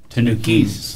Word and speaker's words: Tanukis: Yeah, the S is actually pronounced Tanukis.